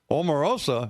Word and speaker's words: Omarosa: Omarosa, is that how you pronounce the name?